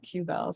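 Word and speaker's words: WQBEL: based effluent limitation um we just we don't pronounce the W when we shorten that Q Bell so it's just the Q Bell instead of the tbell so so those are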